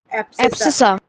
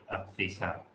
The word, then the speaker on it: abscissa: Abscissa. हाँ, spelling क्या है? ABSCISSA. हाँ, SCI, हाँ, डबल S, CISSA. अब्सिसा।